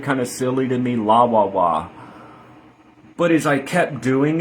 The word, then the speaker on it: לוו: So, La Wa Wa is the divine name. Again, different pronunciation from Shem angel name because we're using a different pronunciation method, base vowels.